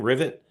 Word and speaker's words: Rivet: Is that how you pronounce her name? Rivet? Yep. Right, rhymes with Rivet.